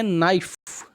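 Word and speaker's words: knife: ऐसे ही ये है नाइफ, कनाइफ नहीं है ये, नाइफ, नाइफ मीन्स चाकू, तो यहाँ पे बच्चों के जो है वो साइलेंट वर्ड लेटर है, ठीक है।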